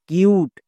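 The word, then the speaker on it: cute: এবার পুরোটার উচ্চারণ করো সি ইউ টি, কাট। কিউট কিন্তু হচ্ছে না, কেন হচ্ছে না? কারণ এখানে দেখো ইউ এর পরে একটি লেটার আছে। নিয়মে কি বলেছিল, ইউ এর পরে একটি লেটার থাকতে পারবে না, যদি থাকে তাহলে আমরা কি করব, শেষে একটা সাইলেন্ট ই দিয়ে দুটো করে নেব। তাই দেখো সাইলেন্ট ই দিয়ে দিয়েছি। এবার হচ্ছে সঠিক বানান, যেমন সি ইউ টি ই, কিউট।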